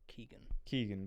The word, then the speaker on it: Keoghan: obviously, since as none of us can actually pronounce his second name, I think you were right with the Keegan.